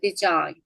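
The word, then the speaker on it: design: 서명이란 뜻이 있죠 해볼게요 디자인 디자인 얘는 왜지가 발음이 안 돼요도 비음 앞에 단어 맨 끝에 비음 앞에 그지 그죠 잘하셨어요 그래서 그런데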